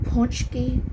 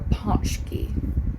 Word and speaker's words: pączki: which does not look like it sounds it's pronounced punchki or ponki ponki although we're bound to get emails telling